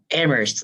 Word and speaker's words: Amherst: yeah he did uh Amherst uh sorry um where the H is silent exactly oh yeah but